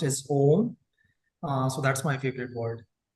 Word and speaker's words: Om: It's a Sanskrit word pronounced as Om.